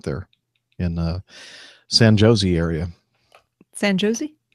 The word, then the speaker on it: San Jose: San Jose? Uh-huh. I think that's the accepted pronunciation.